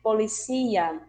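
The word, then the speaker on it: policía: E o que se pronuncia de um jeito em português vai se pronunciar de outro em espanhol, como o caso, por exemplo, polícia. Em espanhol vamos ter policia. Alergia.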